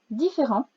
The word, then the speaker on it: différent: Alors ce mot a aussi une lettre muette à la fin, un T. On peut penser à différente si c'est au féminin. Le en s'écrit EN, pas AN, EN, différent.